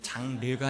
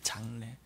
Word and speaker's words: 장래: 따라해 볼까요 성도의 장래에 발음 잘 하셔야 됩니다 장르가 아니라 장례입니다 장례 성대 장례 따라하세요 좋은 때가 있기